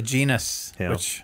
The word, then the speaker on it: genus: class or the genus the genus which rhymes with penis no I control muting